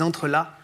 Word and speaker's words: entrelacs: qui s'appelle donc les entrreelas le C ne se prononce pas c'est un mot qui